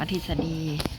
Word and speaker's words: ทฤษฎี: กด ทฤษฎี ลูก ทฤษฎี อัน นั้น อ่าน ว่า ทฤษฎี หรือ ปรากฏการณ์ ที่ เกิด